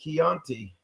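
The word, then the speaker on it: Kionte: I We would love spell it love. K-I-O-N-T-E. Chianti.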